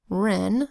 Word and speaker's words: wren: You'll notice here the word wren spelled with our WR phonogram, E that says E and an N that says N, wren.